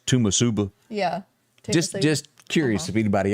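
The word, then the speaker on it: Toomsuba: So have you ever bumped into anybody that cannot pronounce Tomb Suba and it's Tumasuba?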